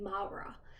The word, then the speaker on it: Maura: they have the name Maura because that's a very relatively common name oh sorry they're they're pronouncing it Mara because it's supposed to be like Manny and Laura Lara but in Spanish there's a